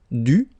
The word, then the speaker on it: dû: So even if you put this accent circonflexe, you don't pronounce it, okay? It doesn't change the sound of the letter U, so it's the same phonetically, it's U and then U, okay?